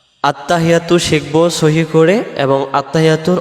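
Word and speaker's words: التحيات: এই শব্দটাতে আমরা কি ভুল করে ফেলি আমরাদের উচ্চারণে আত্তাহিয়াতু আত্তাহিয়াতু আত্তাহিয়াতু হা জের হি ইয়ার পরে তাসজিদ আসছে এই তাসজিদটা সহ আদায় করার জন্য বলতে হবে আত্তাহি এমন আওয়াজ হবে আত্তাহিয়াতু আত্তাহিয়াতু আত্তাহিয়াতু ইয়া অক্ষরটা আলিফ টান লিল্লাহি লিল্লাহি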